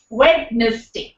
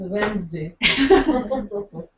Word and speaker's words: Wednesday: dat wow data or data well the correct pronunciation is data wedes day it's Wednesday absolutely so though I think half our lives